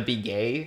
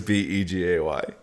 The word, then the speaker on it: Begay: Yeah, her last name is B-E-G-A-Y. Oh my god. I think it's pronounced Begay. Begay. But it's I just read it as B-Gay.